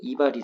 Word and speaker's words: 이발: 원래 글자가 리발이에요. 근데 첫 번째 글자에 왔기 때문에 두음 법칙에 적용이 돼요. 이 두자는 머리 두자니까. 그래서 이발이 되는 겁니다.